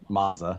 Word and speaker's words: Mazda: Tony Mazda, not Mazda. Oh, Tony Mazda. Tony Mazda. He just said Tony. Long A, you Canadian bloke, to pronounce Mazda and Mazda.